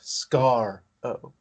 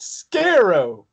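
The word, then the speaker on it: Skaro: Scott Oh Scott yeah it's pronounced scar Oh like the scar the scar on Harry Potter's forehead get it Brian because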